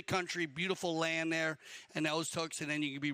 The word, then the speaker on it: Okotoks: Okotoks is the closest town, right? Is that how you say it? Yeah, Okotoks is the closest town there to the Calgary Polo Club.